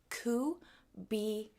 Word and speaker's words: cubiando: All right, so cubiando. Okay, say it after me. I'm going to say a syllable, then you say a syllable. Cu be on do. Then we're going to say it all together.